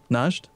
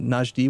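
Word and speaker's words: Najd: me over the limit is that really how you pronounce it Naj D yeah yeah najed najed is the country and then njd would be the adjective to oh okay I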